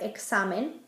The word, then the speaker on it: examen: It can sound like a KS, like in the word examen. It can sound like an S, like in the name Xiomara.